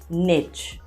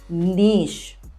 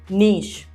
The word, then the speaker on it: niche: is our next word it's not pronounced as niche no that's wrong it's pronounced as niche yes repeat after me niche which means a specialization